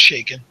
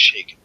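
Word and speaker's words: Chaykin: be really really good are you familiar with how it's shaking it's spelled c-h not sh am I familiar with it are you familiar how it's shaking he pinned a mid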